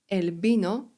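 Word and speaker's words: vino: Elbino wino. Na początku słowa litera V, czyli U w kasjanu jest wymawiane jak B.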